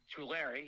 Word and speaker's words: Tulare: i'm pronouncing all right tawari talaria um tomato tomato to larry california my man true larry yes there you go there you go think of two and then the name larry exactly there you go